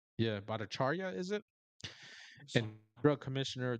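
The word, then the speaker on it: Bhattacharya: J Bichar, I don't know how to pronounce that. Bacharia. Yeah, Bacharia is it.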